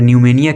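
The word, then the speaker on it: pneumonia: P N-you M ओ एन आई ए और न्यूमोनिया के होता है यह एक वे डिसीस होता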